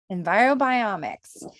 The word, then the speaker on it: EnviroBiomics: of Enviro Environ biomix is that how you say it is it envirobiomics yeah we got it envirobiomics and they are a